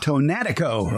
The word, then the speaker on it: Tonatico: I'll let you pronounce it. What is it? It's called tomato Tonatico. Tonatico.